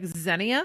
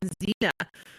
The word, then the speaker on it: Xenia: outside of zenia ohio it was like zenia so they made a show around dayton and didn't do any research on how to pronounce any of the names even if you had pronounced it like were your princess you would have at least got xena just wait until they